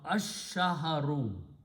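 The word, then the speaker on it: الشهر: So it will become al-shahru, but in the tajweed, sheen will kill the sound of lam. It will pronounce ash-shahru.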